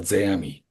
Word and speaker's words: Zeami: Zeami, excuse me, Zeami, that's my Zeami, Zeami.